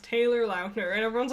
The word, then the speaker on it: Lautner: Taylor Lautner came out, and he's like, it's pronounced Taylor Lautner, and everyone's like, it's not Taylor Lautner?